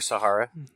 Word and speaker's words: Sahara: Black Hills the Sahara how do you say Sahara yeah you could say Sahara or Sahara potato potato man and then the Cobra